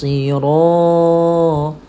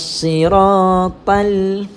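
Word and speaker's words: صراط: Kadang-kadang tertukar di antara ta dengan ta. Dia baca ta. Macam mana? Saya Ustaz baca kaedah yang salah. Ihdinas siratal. Kalau tal salah. Dia kena ta, tebalkan ejaan dia. T-H-O, ta. Yang ta ni salah. Ta ini kita kena baca dengan tebal. Ihdinas siratal tal. Tebalkan ta. Sebab apa? Kalau kita nipiskan ta, dia bertukar jadi ta.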